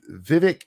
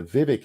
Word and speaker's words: Vivek: last name right but the Vivek is actually like vivac Viv that I I can't